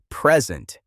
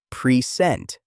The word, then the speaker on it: present: For example, the word present. If you stress the first syllable, present, it is a noun meaning a gift. If you stress the second syllable, present, it is a verb meaning to show something.